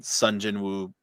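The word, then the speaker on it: Sung Jin-woo: And like, I mean, Sun Jin-woo rhymes with Mary Sue loosely, so like you can't tell me that's not on purpose.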